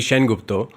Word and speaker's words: Sengupta: wondering about that is like saying Sengupta I can understand it is going to be Shane Gupta but yeah so I